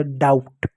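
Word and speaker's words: doubt: पहले एम आए तो बी साइलेंट होता है। इस बात को याद रखना। ठीक है? इसलिए बी साइलेंट बी को क्वेश्चन लिखेंगे और टी का ट हो गया। हो गया डाउट।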